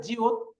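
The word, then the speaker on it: 지읒: ওকে, তারপর আছে জিউত। জিউতের এটা যদি প্রথম থাকে তাহলে উচ্চারণ হবে জ, আর যদি নিচে বসে তাহলে উচ্চারণ কি হবে? ত। ত।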